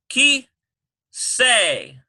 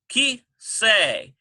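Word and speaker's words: כסא: We have ki say. Ki say. K-E-S-S-A-Y. Ki say. You hear the SS sound?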